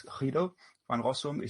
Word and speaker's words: Guido van Rossum: Guido van Rossum, or probably if you pronounce it Dutch, it's Guido van Rossum.